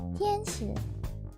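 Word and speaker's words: 天使: Tianshi, my surname is pronounced in the Chinese way, Tianshi. In Japanese, that would be pronounced Tenshi, but I pronounce it Tianshi.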